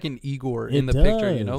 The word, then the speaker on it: IGOR: Pronounced Igor. 3 E's.